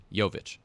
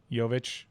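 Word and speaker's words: Jović: the finals huh but how do you pronounce the J in his name yovich yovich but for jokic it's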